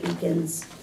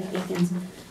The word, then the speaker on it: Eakins: So this is the council's board members that will be appointing Eakins. That's how you say his name, isn't it, Kelly Eakins?